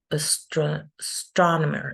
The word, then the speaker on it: astronomer: We have a longer word here, astronomer. We're going to see division of syllables next week. And you can see here that the first syllable is just the schwa, and that the stress goes in the second syllable, which would be astronomer.